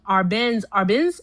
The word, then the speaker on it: Arbenz: And because um Arbenz, that's how you pronounce it.